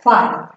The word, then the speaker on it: phi: What is the pronunciation of that? Phi.